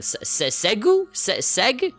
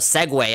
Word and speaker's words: Segway: But yeah, like whenever I see it, I'm like, Segui? Like just, I don't know, like how do you pronounce Seg. But then when people say it out loud, Segway, I'm like, what?